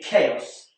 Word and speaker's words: chaos: And finally, chaos. This is spelled with a ch and ch is more more commonly pronounced ch like in church but in chaos it's a c like in cat.